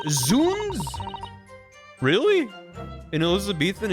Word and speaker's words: Zounds: Zhouns is pronounced Zuns. Really? In Elizabeth and it's Zuns. Oh, I like Zounds better.